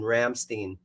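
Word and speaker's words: Rammstein: G guy that's in Ramstein and all the ments were like dude you're a dumbass yeah you have to pronounce it right it's like Frankenstein it's Ramstein just so you guys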